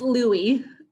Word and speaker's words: Louis: how to pronounce this, Louis, L-U-I. Yes, Louie. I go by Louie.